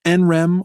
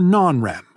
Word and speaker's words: NREM: Our sleep is divided between REM sleep and NREM sleep, which you can pronounce NREM or non-REM.